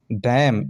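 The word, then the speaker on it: damn: डैम, इसी प्रकार डी ए एम N, last में एन है तो एन साइलेंट है, यानी एम के साथ है एन,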